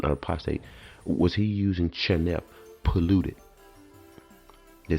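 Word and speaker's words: חנף: The Hebrew word chanef, I think that's how it's pronounced.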